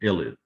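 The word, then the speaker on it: ylide: time this is an illid think about pronouncing it like that so think of the y as on the y-l as i-l-l so it's an ilit illid okay all right so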